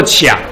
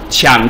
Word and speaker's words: 羟: 醇的官能基就叫做这个啊，它叫念作羟，OH 羟基，七氧羟，啊，